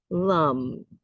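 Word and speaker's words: लं: It's spelled Lam in Sanskrit, but it is the sound is lum.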